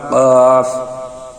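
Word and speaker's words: ق: সেখান থেকে এই দুজন চার নাম্বার মাখরাজ জিহ্বার গোড়া তার বরাবর উপরের তালুর সঙ্গে লাগাইয়া দুই নুক্তালা কফ কফ কফের উচ্চারণ জিহিব্বার গোড়া উপরের তালের সঙ্গে কফ কফ পাঁচ নাম্বার মাখরা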